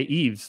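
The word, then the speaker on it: Yves: I'm in my own ye e ye yees e EES like Christmas Eve oh okay Eaves messy that that see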